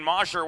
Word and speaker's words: Mosher: the bobbled pronunciation Shane Mosher wearing number 14 work play into the Delaware end checking with team staff prior to the game Shane goes with the short o as opposed to the